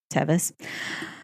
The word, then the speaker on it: Tevis: at the tevis farm i believe it's tevus or tevus it's kind of spelled like tervis without the r so tevus a property that they